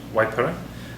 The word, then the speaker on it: Waipara: do I know yeah definitely the you can pronounce it as wiper um which would be considered proper pronunciation of a Mari word um probably a few of the locals would call it wiper there's a lot of difference for but it's